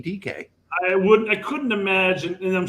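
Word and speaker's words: Dike: They wouldn't pronounce that Dyke in Africa. That's definitely DK.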